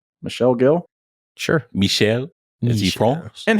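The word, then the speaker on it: Michel Gill: pronounce his name as is it Michelle or Michael Michelle Michelle Gil sure Michelle is he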